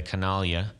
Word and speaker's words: Canaglia: So, hey, we got the Canaglia. I'm saying it right? You are saying it absolutely right.